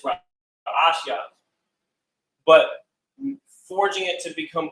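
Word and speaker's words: ראשית: So the pronunciation of beginning is Ra'ashya.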